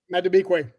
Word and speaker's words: Madubuike: I don't know how to say his name. Madubuike? Madubuike. Say it again. Tell me. Okay. All right. Look at you.